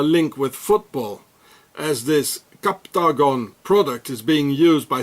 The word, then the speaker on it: Captagon: So here it says Captagon, it's like octagon, Captagon, it's the same.